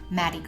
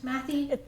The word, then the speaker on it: Mathey: Am I pronouncing it right, Mathey? It's actually Mathey Girls.